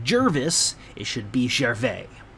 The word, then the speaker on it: Gervais: Valley of Oregon je r vis it is pronounced Gervais it should be sheriff a if my wife